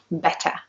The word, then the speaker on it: better: So for example, in the word better, you can hear the T and it's pronounced in the same way as it's written. So in American English, it might sound more like a D.